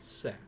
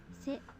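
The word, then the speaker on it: せ: You pronounce it as Se. Se.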